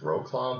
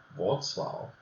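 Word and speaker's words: Wrocław: we went down to this looks like it should be pronounced R claw but it's actually wzw or something like that then this is where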